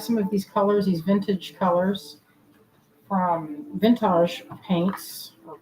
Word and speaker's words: Vintaj: I used to think they said their name is actually just vintage. And so I've been calling them Vintage because it's spelled Vintaj. So for so many years I called them Vintage. That's just how it looked to me. Just looked at the spelling. It looked like it should be named Vintage and not Vintage.